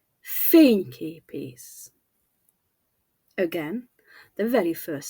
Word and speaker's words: fényképész: Now the second word, fényképész, fényképész, photographer. In English, the stress shifts, photographer, but in Hungarian it stays the same, fényképész.